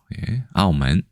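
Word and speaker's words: 澳門: 그런데 오문이라고 얘기한다. 중국에서나 현지에서도 아오먼 이렇게 발음하는 경우가 많다라는 사실을 알면 될 것 같습니다.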